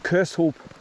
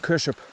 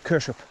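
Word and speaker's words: Kershope: one of my videos he says it's pronounced Kush so spelled it like k a r s h u p Kush up to get to get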